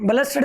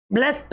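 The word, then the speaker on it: blessed: Blast ब्लस्टेड नहीं बोलना है इसको। ब्लेस्ड बोलना है।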